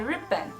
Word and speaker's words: 日本: En chino se dice Rippan y en japonés se dice Nihon.